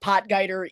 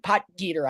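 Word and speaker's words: Potgieter: I'm like man they let potger even pot Gater I should say I know they I'm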